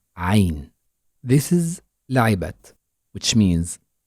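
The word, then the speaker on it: عين: right of the picture we need to narrow the space from which air comes out of our throat in order to pronounce the letter Ain so it is ah ah while as is on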